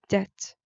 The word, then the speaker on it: debt: synonym for mortgage is debt that also the b is silent just like mortgage the